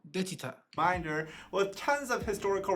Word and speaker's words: 대취타: Daechwita. Daechwita. Daechwita.